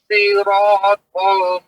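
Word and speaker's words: صراط: Ihdinas siratal mustaqim. Ya. Siratal Bukan si. Soalnya ada suara ui di dalam, Pak.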